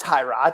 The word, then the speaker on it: Tyrod: This is like Tyrod Taylor or Tyrod Taylor all over again. No, it's Tyrod.